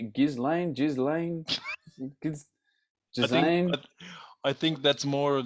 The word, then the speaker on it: Ghislaine: Ghislaine? I think that's more of the things that happened. Just Andrew. Seriously. People who Ghislaine. Ghislaine. Maxwell, so Prince Andrew. S is silent.